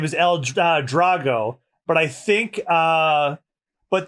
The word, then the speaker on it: El Drago: but his name is El Drago but I think uh but the Japanese pronunciation is if you pronounce his name in Japanese it's El dorago so uh oh like